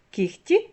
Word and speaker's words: кігті: пишемо так і вимовляємо проте є п'ять слів в яких дзвінки перетворюються на глухий це такі слова як кігті нігті легко вогко дьохтю Ви чуєте що я вимовляю х а не г хоча ми пишемо в цих словах г ось транскрипція цих слів